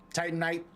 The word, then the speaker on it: Titanite: We've got dynamite and we've got some silicone and we've got some t or titamite or however you pronounce it. Titanite.